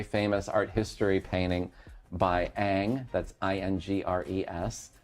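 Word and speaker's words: Ingres: art history painting by Ang. That's I-N-G-R-E-S. That's how you pronounce it. You say it Ang.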